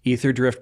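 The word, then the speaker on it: Aetherdrift: we're doing because tomorrow January 31st is The Ether drift pre- pre-release did I say it right yes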